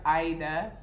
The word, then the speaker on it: Aida: not but um yeah so my name is actually pronounced like it's arabic so it's pronounced aida but that's a whole lot of a lot for americans to say so i've gone by aida in the past but now i'm ready